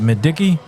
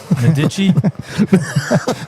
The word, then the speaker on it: Medici: Is it Medicki? Medici. It's not Mediki, right? It's not Madiki.